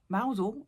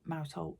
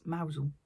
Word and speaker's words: Mousehole: If you're not from the UK, Mousel is mousehole down in Cornwall, but you don't pronounce it mousehole, it's Mousel.